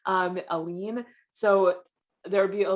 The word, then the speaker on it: lien: english is i believe a lean so i think i pronounced that right l-i-e-n um a lean so there would be